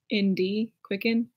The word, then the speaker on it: QCKND: Like, one of my favorite YouTubers, her name is Quicken. It's spelled like QCKND, Quicken.